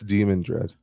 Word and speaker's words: Demandred: one too no yeah that's demon dread not theand dread don't get us confused put the accent on the E damn it what did